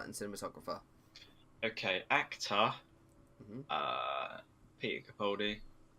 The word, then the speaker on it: Capaldi: I don't know how to pronounce his name. Peter Camelot. Is that Camel. I swear that's not what you said. Capaldi. Capaldi, that's it.